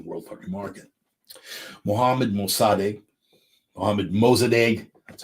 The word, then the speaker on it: Mossadegh: I have an Iranian friend that chides me for my pronunciation. It's Mossadegh. Mossadegh. Okay, fine. Mohammad Mossadegh. I've always pronounced it Mossadegh. You do what you want with that.